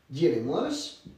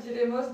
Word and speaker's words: diremos: Diremos. Direis, diram. Et donc ça donne dire, diras, dira, diremos, direis, diram. Attention à la prononciation du R, un seul R.